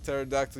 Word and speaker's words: pterodactyl: Why can't you hear Pterodactyl use the restroom? It's because the P is silent.